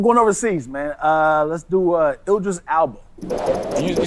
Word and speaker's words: Idris Elba: You threw an L in the first name. Jessica Alba. Idris Elba.